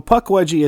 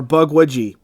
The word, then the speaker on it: Pukwudgie: So Pukwudgie is actually the most common modern English way to say it. Oh. There are actually a number of other pronunciations and spellings depending on specific tribes, but overall they tend to have a similar sound.